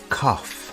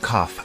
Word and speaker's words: cough: do you have a cough the word cough has an unusual pronunciation instead of a g sound we have an F sound here do you have